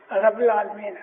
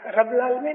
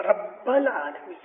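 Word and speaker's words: رب العالمين: रब्बुल आलमीन, रब्बुल आलमीन नहीं, रब्बुल आलमीन। बे के ऊपर स्ट्रेस करो, रब्बुल आलमीन।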